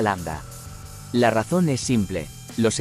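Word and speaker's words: lambda: Allí se ve claramente la letra l que en griego se pronuncia Landa la razón es simple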